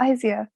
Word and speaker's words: Izia: Is her name Izia? I don't know how you pronounce that. Yeah, Izia, that's correct.